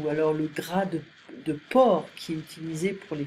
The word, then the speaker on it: porc: Donc le porc, ici on prononce porc, on ne prononce pas le C.